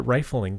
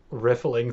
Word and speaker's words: riffling: I've been at concerts I always pronounced it rifling through I thought there was only one F now I'm riffling through my virtual dictionary